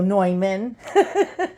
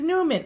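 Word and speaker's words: Neumann: the Lord your God hello noyman I thought it was Newman I mean it's spelled that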